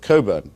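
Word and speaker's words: Cockburn: American domiciled person I should say the otic Cobra to pronounce his name correctly is a very valued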